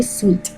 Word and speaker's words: suite: which was known as The Meta business sweet for American pronunciation is going to be sweet okay which is you